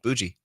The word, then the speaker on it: bougie: the bougie wing it how did you pronounce it bgie how do you spell that b o u j bougie like bad mie I think so I think you're right